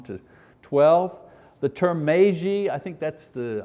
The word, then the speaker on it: Magi: The term magi, I think that's the, I've toyed with a lot of different pronunciations in English, looked at all kinds of books, you know. Magi is the closest one I can come to.